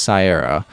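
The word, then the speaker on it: Caiera: i'm gonna be honest i'm not really entirely sure how to pronounce that c-a-i-e-r-a i think it's sierra who become but she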